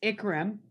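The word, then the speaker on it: Ikram: uh igram is it is it pronounced akram and andrew and everything changed because one of them forgot their wallet tell me their story sure uh it's ikaram and andrew they were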